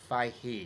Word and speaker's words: Feige: You don't pronounce the G. It's like Feige.